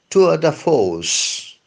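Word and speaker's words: tour de force: o r c e to the f I don't think there is much of a difference between the English way of pronouncing it and the French way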